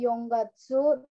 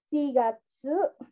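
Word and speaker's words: 四月: 7 dan 9 itu bukannya Yong Gatsu terus nanagatsu terus Kyu Gatsu ya tapi kita menggunakan cara baca cara baca lain dari 47 dan 9 yaitu shigatsu nah ini sering mungkin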